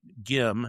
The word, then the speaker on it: Gim: And he's always pronounced colossal boy's name Gim, not Jim, and always will.